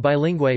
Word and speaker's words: bilingüe: and GUE, as in bilingüe bilingual, to indicate that the U is pronounced W, rather than having the usual silent role that it plays in unmarked GU and GUE.